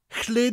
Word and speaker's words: Lle: Chle is spelt L-L-E, and that double L sound is often hard for people to say when they first start learning Welsh. Well, I'm going to show you now how to say it nice and easily. To say it, put your tongue on the roof of your mouth just above your teeth. And say L like the L in lid, L, while blowing air.